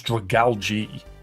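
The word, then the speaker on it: Dragalge: I can tell you though that in English dragali I kept getting wrong. It's dragali is how you pronounce dragal.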